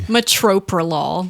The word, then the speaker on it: metoprolol: And do they add extra R's or something? Metoprolol.